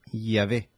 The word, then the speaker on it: Yahvé: Ahora fíjense, dice, los hebraístas han llegado al acuerdo general de que la pronunciación original debe haber sido Yahvé.